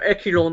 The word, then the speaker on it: echelon: like the entire upper echelon of the management, they have legal responsibility. Upper echelon. Echelon, yes, that's right. You pronounce it with like SH.